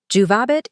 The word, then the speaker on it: juvabit: Juvabit is indeed future active indicative, and the emphasis naturally falls on the penultimate syllable due to the length of the A.